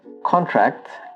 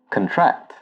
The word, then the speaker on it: contract: this word, it's pronounced contract. So for example, I have signed a contract with a company. Now if you're using the verb form of this word, you pronounce it as contract.